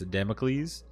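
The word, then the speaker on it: Damocles: Uh Democles I believe is how you pronounce that. I said it wrong probably like five times in the actual video but I'm pretty sure it's Democles.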